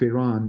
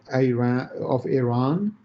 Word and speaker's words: Iran: want them to be under the influence of Iran.